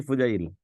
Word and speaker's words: ফুজাইল: না, বানান ভুল করছেন, এটার উচ্চারণ হচ্ছে ফুজাইল, ।